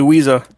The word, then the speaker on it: Weeza: So With, I believe this is the first time I've had you up here for a podium finish. Yep, sure is, but it's actually Weeza. I've been saying it wrong.